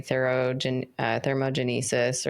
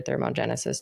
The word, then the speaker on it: thermogenesis: The next category is your non-exercise activity, thermogenesis or thermogenesis, depending on how you want to pronounce that, which is basically like when you're walking around during the day.